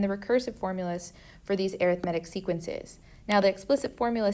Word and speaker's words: arithmetic: arithmetic sequence it looks like arithmetic but it's pronounced arithmetic these are sequences that add or subtract terms